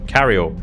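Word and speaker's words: Karial: Carryall spelt with a K. I don't know if I can bring up the old console. Hang on, I need to get closer. There we are. Yeah, Carrial.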